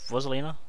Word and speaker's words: Rosalina: and juliet what was lena is that he pronounced her name rosalina rosalina rosalina that's it i haven't played this